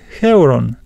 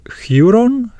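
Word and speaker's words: εὗρον: Some pronounce them as u, and they say there is an example in English, the word feud, and then they would pronounce this word as basileus, basileus, a king, and huron, huron, I found.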